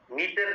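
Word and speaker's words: mater: का होता है उसे हम कहते पा मेटर कहते मीटर नहीं है मेटर है एटी आर ए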